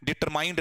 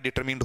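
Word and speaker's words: determined: तो एक तो क्लियर कर दो, डिटरमाइन नहीं होता है, डिटरमाइनर नहीं होता है, डिटरमाइंड नहीं होता है, डिटरमिन्ड होता है, ठीक है।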